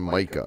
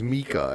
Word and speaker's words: Mika: at the beginning because I called him Micah because that's what I was spelled yeah but his name's Mika and he's like oh